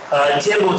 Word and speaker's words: Tianmu: Tianmu today is spelled without an O, so it's M-U, Tianmu.